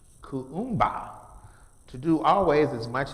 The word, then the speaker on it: Kuumba: Then the next is the 6th day, which is pronounced Kuumba, to do always as much as we can